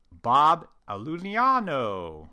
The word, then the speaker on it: Iulino: Bob Iulino, which I have to say it like that because that's how he says it, runs a 3-person digital lab in upstate New York called Adirondack Dental Ceramics.